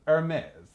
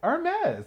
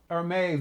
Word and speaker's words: Hermès: Hermès. It starts with an E. They're like, no. Hermès is actually a French company, and it is spelled Hermes.